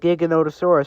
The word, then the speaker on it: Giganotosaurus: pronounce it wrong how they spell it Giganotosaurus but they say gigantosaurus gosh this is like